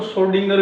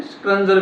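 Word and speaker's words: Schrödinger: इसको श्रोडिंगर भी बोल देते हैं, स्क्रंजर भी बोल देते हैं, प्रोनाउंसिएशन है, जो भी करें दोनों ठीक है।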